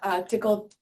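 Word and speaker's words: Tcl: And John also co-invented Raft, the consensus protocol, log structure file systems, and John's the creator of Tickle TK, pronounced correctly.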